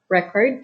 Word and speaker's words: record: we have this word record and record in this words the noun is stressed on the first syllable and the verb is stressed on the second syllable so i can't find